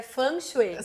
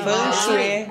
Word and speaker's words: Feng Shui: Porque no Feng Shui, ou Feng Shui, como a gente fala, que a pronúncia correta eu aprendi que é Feng Shui. Sim. Feng Shui.